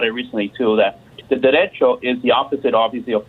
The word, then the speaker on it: derecho: You say derecho, not that you're saying derecho or whatever. It's derecho, CH, derecho.